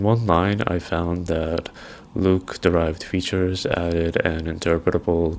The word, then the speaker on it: LIWC: The core aim was to test whether LIWC or pronounced as Luke a psych whether its